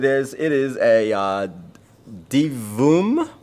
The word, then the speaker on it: Divoom: know what it is it is a uh d voom devoom that's how you pronounce it uh it's one of those pixel